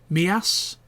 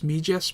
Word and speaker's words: Mijas: Oh yeah, we went to a place called Mias, which is spelled Mijas. The locals call it Mias, but it's actually Mijas. In English, you pronounce it as Mijas, but in Spanish it's Mias.